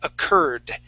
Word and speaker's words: occurred: sound occurred okay now when we pronounce that o it's really quick we say occurred o